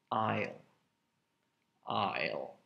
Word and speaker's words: aisle: down the aisle and there is an s in that word but you don't pronounce it at all i'll i'll you don't even think